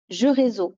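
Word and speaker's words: Géreso: Il a été écrit par Laetitia Blondel et il est publié chez Jeux Réseau. Alors, j'espère que je prononce bien.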